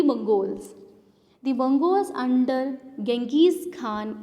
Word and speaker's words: Genghis Khan: The Mongols under Genghis Khan, in Hindi we can pronounce it Changiz Khan, invaded Transoxiana in northeast Iran in 1219, and the Delhi Sultan faced their onslaught soon after.